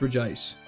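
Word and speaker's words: Regice: It should be Reggie ice, but there's missing an I, so it's re ice.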